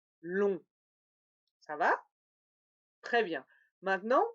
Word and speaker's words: long: Oui, lent, d'abord le A nasal, lent, ensuite lèvres étirées, lin, et finalement le O nasal, long.